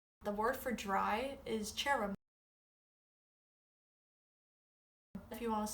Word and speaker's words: tirim: So the weather in Irish is I'm sure the word for dry is cherum.